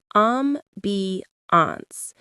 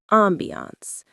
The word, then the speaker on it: ambiance: I love that word ambance. The stress is on that first syllable. Ambiance.